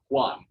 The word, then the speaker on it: Juan: isn't too confusing um the spanish j is an h sound so uh juan juan um and so in